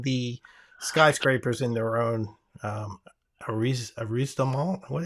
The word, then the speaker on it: arrondissement: and even keeping the skyscrapers in their own arrondissement. What? How do you say that? Arrondissement.